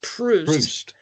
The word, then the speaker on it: Proust: I've only ever heard it pronounced Proust.